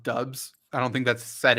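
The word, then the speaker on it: Doubs: as soon as they figure out that it's pronounced dubs i don't think that's set in yet once they figure it out they're gonna go crazy he will always be dupes to me dubs would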